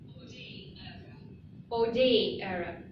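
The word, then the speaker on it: hors d'oeuvre: It doesn't pronounce like this in French, but let me give you the clear pronunciation so that you put it in your mind. Okay. Ode era.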